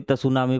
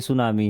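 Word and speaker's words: tsunami: तसामिक सुनामी can travel ये T silent होता कभी तस सुनामी पढ़ो भाई मैं भी पहले बचपन में इसको तस सुनामी पढ़ता था लेकिन बाद में पता चला कि ये सुनामी है अभी तो सुनामी कैन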